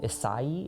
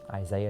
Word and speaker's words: Isai: it came from um isai is how you pronounce that but it's just Isaiah is just kind of what he's called and it sounds like